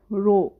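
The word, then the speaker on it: Rho: স্টেশনে না সরি মেলাতে এই জায়গাটার নাম হচ্ছে রো ইংলিশে যদি বানান করি আর এইচ ও মিলান রো সরাসরি মুনসা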